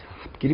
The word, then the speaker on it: 앞길: 자, 요 경우에, 앞길이 뭐예요? 앞 플러스 길. 자, 요 경우. 자, 발음이 어떻게 됩니까? 앞길 이렇게 되죠, 앞길.